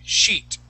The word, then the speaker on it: sheet: okay give me a good I sound we're gonna use that Spanish I okay we're gonna say she sheet [